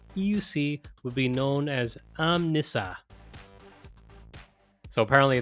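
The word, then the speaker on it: Omnissa: m- n ss- u with an emphasis on the N so n and apparently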